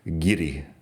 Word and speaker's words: guiri: I suppose I should pronounce the R better. Guiri.